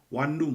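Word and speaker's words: 婉容: 먼저 당연히 정실 황후였던 완룽, 그러니까 우리나라 발음으로는요 완룡입니다.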